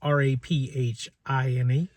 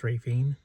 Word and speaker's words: Raphine: That's r a p h i n e pronounced Raphine. r a y f e e n Raphine Virginia.